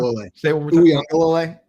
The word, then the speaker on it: Uiagalelei: Uiagalelei. Uiagalelei. There's no N. There's no N, but it's like Tua Tagovailoa, where like there is that N sound, even though there isn't an N.